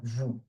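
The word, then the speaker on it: vous: So you see here in vu I'm not pronouncing v v. And I'm not pronouncing the s e either. Why? Because what I said just before the last letter of a word is silent if it is a consonant. So it's uh the s is silent. It's vu.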